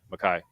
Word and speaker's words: McKay: I've done this, and her last name is spelled Mckay, and I imagine that Y is an I, Mackay.